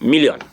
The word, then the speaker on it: million: They say, what about million? And million is the same thing, but the pronunciation differs.